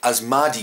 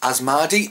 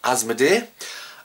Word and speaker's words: Asmadi: game was created by as Margie games and not as MIDI I think I pronounced in the last episode so it's as malady and not as MIDI and there's a couple